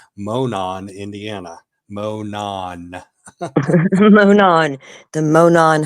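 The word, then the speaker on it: Monon: There's actually a town in Indiana called Monan, Indiana.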